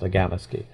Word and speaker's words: Akamiski: polar bears was on Agamaski Island, which if you look on a map of James Bay, there's a big island sort of in the middle of it. It's spelled Akamiski, but it's pronounced Agamaski.